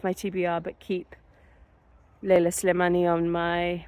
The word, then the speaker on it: Slimani: TBR, but keep Leila Slimani on my, which I did pronounce wrong before, because I read it as Silmani, but you know, that's because I'm not very good at reading.